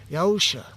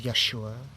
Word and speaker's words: Yahusha: went to Pilot about yahusha I'm going to be pronouncing him as yahusha as it's written in the suffering so some people use Yeshua other names as well accusing him with many